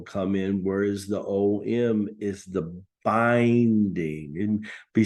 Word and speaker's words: AUM: to say it the most common way to pronounce it is om and that is The Binding of the 3DS